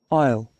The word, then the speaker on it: Isle: Isle. Isle, you see? Isle. So that's a very crazy pronunciation because it's like, it looks like this,